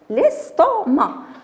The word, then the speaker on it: estomac: L'estomac. Alors, ici, C ne se prononce pas.